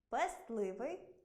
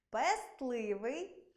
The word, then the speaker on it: пестливий: Це слова зап'ясний, кістлявий, пестливий, хвастливий, хваснути, хворосняк, 16, компостний, контрастний. У цих словах-винятках звук «т» у вимові зникає, але на письмі зберігається.